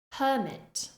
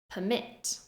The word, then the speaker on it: permit: First, I will say the noun form, stressing the first syllable. Then I will say the verb form, stressing the second syllable.